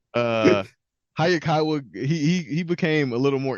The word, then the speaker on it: Hayakawa: Hayakawa.